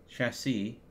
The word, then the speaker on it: chassis: have the simple machine chassis chassis not justice that's why they say the third S is silent okay now we need